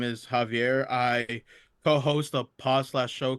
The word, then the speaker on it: Xavier: What's up Xavier? How you doing man? How you doing call it's actually pronounced Javier.